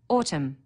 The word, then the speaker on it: autumn: Autumn, a silent N on the end.